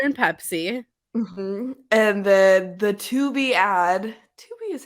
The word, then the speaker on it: Tubi: And then the Tubi ad.